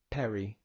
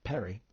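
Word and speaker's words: περί: Perry, which is pronounced like the pear cider, Perry.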